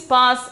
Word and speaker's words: पास: Pronunciation is pass.